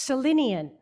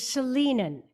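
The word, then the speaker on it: Salinan: I had heard the tribal name pronounced Selenian, and I have since learned the proper pronunciation is Selenan, which makes our UU acknowledgement that much more accurate.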